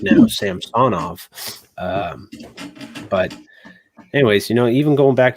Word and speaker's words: Samsonov: Can't say Samsonov. You have to actually pronounce his name correct now, Samsonov.